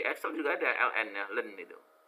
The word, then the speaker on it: ln: Ln itu singkatan bacanya len ya.